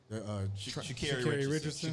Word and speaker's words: Sha'Carri Richardson: Sha'Carri Richardson.